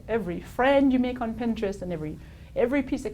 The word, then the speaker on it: Pinterest: have difficulty pronouncing that it's not pin interest it's Pinterest it's a really cool